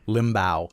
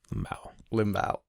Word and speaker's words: Limbaugh: Limbaugh is how he says it. Limbaugh. Awesome. Like Humbaugh. What's that? Like Humbaugh. Like Humbaugh. Yeah.